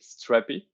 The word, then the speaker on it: Strapi: mean it could be strappy it could be strapped by right now that's right drew what's the name mean is there anything behind the str yeah we we pronounce it strappy okay but yeah if you want to pronounce